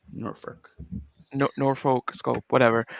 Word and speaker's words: Norfolk: And you too can rebook World War III, 1996 from the Norfolk Scope. Norfolk.